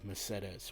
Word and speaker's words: Mercedes: Don't try to correct me, it is actually pronounced in this game Mercedes, which is actually close to the original Spanish pronunciation.